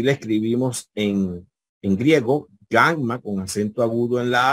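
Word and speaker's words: γάμμα: tenemos la Gamma minúscula el fonema que representa el sonido acuérdense que suena como una G fuerte como una G en gota en guerra ya así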